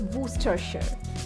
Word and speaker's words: Worcestershire: Is this Worcestershire or Worcestershire? It's Worcestershire. Worcestershire.